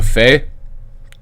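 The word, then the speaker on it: fais: conjugate it as Jo Faye - Faye ile-fay and remember because you don't pronounce the consonant on the end of the word they sound the same even though they're spelled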